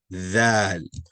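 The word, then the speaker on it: ذال: Regarding pronunciation, both going to have the A sound, not no A, but A. Dal, Zal.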